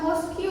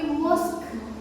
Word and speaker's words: mosque: Nah, bacanya bukan mosque ya, tapi mosque. Kayak huruf kaf. Ada haknya di akhir mosque. Jadi pas akhir ka-nya itu ada udara yang keluar gitu ya.